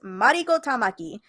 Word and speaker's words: Mariko Tamaki: Well, with the Japanese pronunciation, it's Mariko Tamaki.